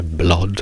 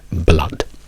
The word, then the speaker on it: blood: U, come cup, oppure dalla doppia O, quando dico blood, che non è blood, non è blood, è blood, per ragioni inutili, per ragioni non esistenti, ma va bene, dobbiamo per forza adattarci.